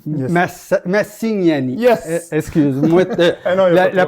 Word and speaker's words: Massignani: J'étais avec moi Jonathan Massagnani. Yes. Massignani. Yes! Excuse-moi, la prononciation est dure.